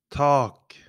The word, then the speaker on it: tak: Tak, tak, tak.